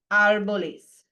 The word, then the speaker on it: árboles: Los árboles. Because the stress has to stay here on the first syllable.